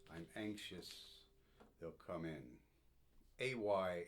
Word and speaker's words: ay: anxious they'll come in ay in Scots does not mean yes it's short for always and it should not be pronounced I but a so I found one